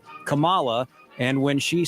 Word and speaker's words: Kamala: Thought it was interesting about the pronunciation of Kamala Harris. Kamala Harris. You notice there the Supreme Court justice said Kamala, and when she said her name herself, she said Kamala.